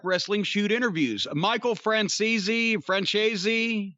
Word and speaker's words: Franzese: Michael Francese, how do you say that? It's Italian. You ought to be. I ought to be. I'm Jewish. Michael Franzese.